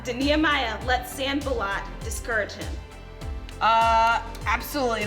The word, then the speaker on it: Sanballat: Is that how you pronounce his name? Exactly. Okay. Sanballat.